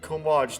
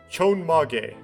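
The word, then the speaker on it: chonmage: a good point i probably i pronounced that right way wrong didn't i yeah chomage chon mage there we go chon maga you can't pronounce it like you have to like know how the romanization works okay that's an impressive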